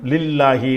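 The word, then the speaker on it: لله: அல்லாஹ்வுக்கு முன்னாடி இகர குறியீடு இருந்துச்சுன்னு வைங்களேன் அதுதான் லாம் மாதிரி படிக்கணும் லில்லாஹி லில்லாஹி அலைனா படிச்சிருவோம்.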